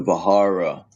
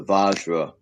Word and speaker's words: Vajra: It's spelled Vajar, I think. Vajra. Let me look it up. Vajra. Or the Vahara. But it is the Vajra.